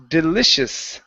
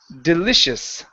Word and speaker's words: delicious: word here is pronounced delicious delicious delici okay Lous delicious okay so the c i makes an sh soundous delicious delicious delicious